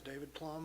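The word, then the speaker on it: David Plumb: My name's David Plum. I live at 612 Stimson Drive. David Plum?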